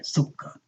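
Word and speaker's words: سكر: Sukkar. Sukkar. The cap is pronounced twice, right?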